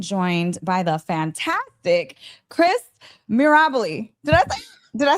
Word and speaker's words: Mirabile: Today, I am joined by the fantastic Chris Mirabile. Did I say it right? Mirabile.